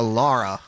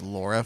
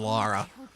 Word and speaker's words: Lara: Honestly, I've had more people pronounce it as Laura for because Laura is more common in America as a name than Lara.